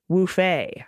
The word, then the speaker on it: Woofy: For my pet tax, and since you haven't had some What the Mutt lately, I present to you my Woofy, pronounced Woofay.